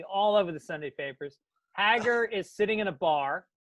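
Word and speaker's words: Hägar: Haggar the horrible some somebody wrote in and say you're pronouncing it wrong it's Hegar no it's not no it can't be that can out it's gotta be Haggar Hegar is a pronunciation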